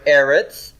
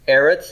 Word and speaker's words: Eretz: borne out okay so the word Eretz Eretz is our third land right first syllable stress and double Sehgal look at